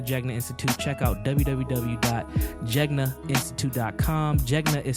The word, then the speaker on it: Jegna: A lot of people pronounce it like Jenga, but it's not that board game.